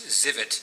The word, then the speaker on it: Zivot: name is and the last name is zivit it's spelt z like zebra i v like victor